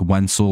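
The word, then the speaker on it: Wenceel: Especially with the way it's pronounced, like Wenzel, like pencil, Perez.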